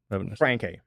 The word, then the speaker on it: Francke: true this is true how do you pronounce your last name Frank Frank yeah so Frank yeah Frank yeah